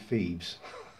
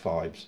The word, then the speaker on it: Phibes: You called it Phoebes. You did make me laugh with that. The Abominable Dr. Phoebes. We call it Phibes. It's probably just the way we pronounce it.